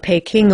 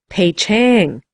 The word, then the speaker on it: Peking: i was in poughkeepsie they don't call it peking over there he said it sounded pay chang i know i said